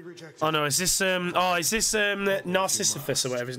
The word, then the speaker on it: Narcissus: The Narcissus. Narcissus, that's how you pronounce it.